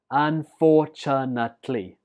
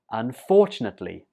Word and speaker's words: unfortunately: Unfortunately. The stress goes on the second syllable here. Unfortunately.